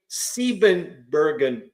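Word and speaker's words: Siebenbürgen: on here thanks uh the first syllable is pronounced with a long e thus seberger okay seben Bergen Saxons how's that um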